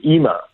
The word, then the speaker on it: Yima: which is free to the public uh called EMA and and it's spelled y-i-m-a and it means stop or halt